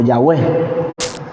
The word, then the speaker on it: Yahweh: y la H y para que se pueda pronunciar de alguna forma se le añadieron las vocales a y la vocal e y así suena como Yahweh y se le otorgó